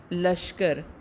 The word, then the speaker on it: لشکر: تلفظ کی درستی۔ جیسے لشکر، لام کے اوپر زبر ہوتی ہے، لشکر۔ پھر ہے جبر، نقصان،